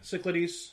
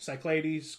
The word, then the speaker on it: Cyclades: question five your favorite game with the mispronounced name for me cyclitis Cyclades Cyclades uh dudes on a